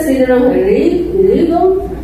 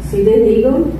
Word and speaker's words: Sidney Rigdon: E ainda Sidney Rigdon, é a pronúncia, Sidney Rigdon, ele foi chamado a atenção pelo Senhor.